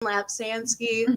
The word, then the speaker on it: Lapsansky: to go it's like laugh like on your lap sand like on the beach and then ski like in the mountains yeah because nobody can